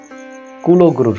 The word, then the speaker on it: কৌলগুরু: দেয়ার যাদেরকে অনুমতি দিত টোটাল সমস্যাটা হচ্ছে কুলগুরুর কারণে সঠিক উচ্চারণটা হবে কৌলগুরু মহাপ্রভু যখন এসেছিলেন তখন